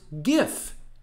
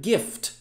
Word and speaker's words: GIF: letter g which means it is pronounced gif like the word gift not like the word giraffe which is also spelled